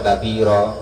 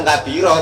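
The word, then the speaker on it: كبيرا: iftitah dulu Allahu akbar kabira. Nah dari itu bacanya, jangan langsung kabiro Bang Irul ya.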